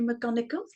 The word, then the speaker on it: McGonigle: So welcome, McGonigal. Thank you so much for joining me today. Thank you for pronouncing my name correctly.